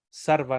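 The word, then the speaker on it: सर्व: Como la palabra sarva. Sarva no tiene ninguna otra acentuación o diacrítico, nada, simplemente se pronuncia sola como S, sarva.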